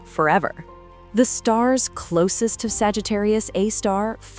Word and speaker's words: Sagittarius A*: At the absolute center of our galaxy lurks a monster, Sagittarius A star, pronounced a star.